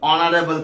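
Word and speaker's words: honourable: যেমন ধরো অনারেবল person, অনারেবলে এইচ রয়েছে কিন্তু উচ্চারণটা হচ্ছে কিসের মতো, অ এর মতো, তাই এখানে বসবে অ্যান অনারেবল পার্সন।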